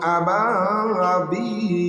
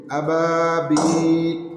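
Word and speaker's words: أبابيل: আবা একালিপ টান আছে, বিল থামার জন্য এখানে 3 আলিফ টান হবে মধ্যে লিন। আবাবিল ওয়া আরসালা আলাইহিম তৈরান আবাবিল।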